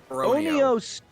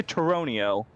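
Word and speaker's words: Tauroneo: It's Toronio. I say Toronio.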